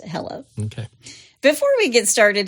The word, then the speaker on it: Helle: her name is Hela h e l l e but it's pronounced Hela okay before we get